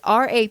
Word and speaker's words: Rappahannock: Rappahannock. Hancock? It's Rappahannock.